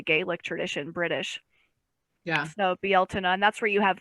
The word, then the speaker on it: Beltane: After Ostara, it's Beeltane, which is spelled Beltane, tradition.